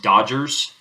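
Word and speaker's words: DoDGARs: non-far-based regulations such as the dod g-a-r-s pronounced Dodgers d-o-d-g-a-r and a few other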